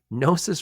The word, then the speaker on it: Gnosis: officer at nois Freight by the way nois is spelled GN o s i nosis Freight pioneered the world's